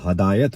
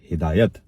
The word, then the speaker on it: ہدایت: اکثر لوگ اس کو ہدایت بولتے ہیں. ہدایت غلط ہے. ہے پہ زبر نہیں بلکہ زیر ہے. درست تلفظ ہے ہدایت.